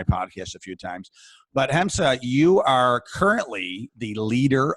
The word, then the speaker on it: Hamsa: So, and I want to make sure that everyone is getting your name correctly, because it's spelled Hamsa, right? Mm-hmm. But it's pronounced Hamsa.